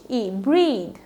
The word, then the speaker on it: breathe: খেয়াল করবে আমি অবশ্য অন্য শব্দটা এখানে লিখেও দেইনি, এটা হচ্ছে ভার্ব, BREATHE, ব্রিদ। ব্রিদ মানে শ্বাস নেওয়া, এটা ভার্ব। আর যদি তোমার ইটা না থাকতো তখন উচ্চারণ চেঞ্জ হয়ে যেত ব্রেথ, আর ব্রেথ মানে হচ্ছে নিঃশ্বাস।